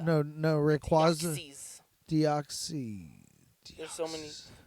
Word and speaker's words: Rayquaza: Wait, because I think I pronounce Rayquaza. No, Rayquaza.